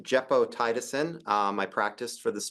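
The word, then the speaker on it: gepotidacin: move on to a novel antibiotic it is pronounced jeppo tiisin um I practice for this talk specifically um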